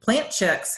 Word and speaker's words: Plant Chics: Instagram and Facebook, and it's Plant Chics, but it's spelled PLANTCHIC because people want to add the K and it's not.